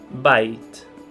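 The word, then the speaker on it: בית: Temos alguns exemplos, como por exemplo a palavra bait. Então aqui nós sabemos que é um som de B porque ele está no começo da palavra.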